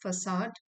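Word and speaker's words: facade: ऑल दो, हालांकि, I always hoped that this was अ फसाड, इसकी प्रोनाउंसिएशन है फसाड, and that there was a competitive edge to him.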